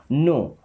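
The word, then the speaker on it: know: नो, अब इस नो word में के और W साइलेंट है।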